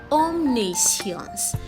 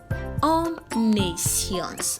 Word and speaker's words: omniscience: can go by that it's a Tetra syllabic word it has four syllables omnisions okay and not only science there is no signs in the word at all so get that right and take correction repeat